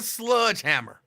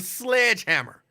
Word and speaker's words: sledgehammer: way pronounced sledg hammer it's not a sludgehammer it's a sledgehammer I get so mad